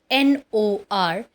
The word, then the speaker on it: north: So, the first word which we are going to learn today is North. It is pronounced as north. Dear students, please mind it very carefully that in this R is silent.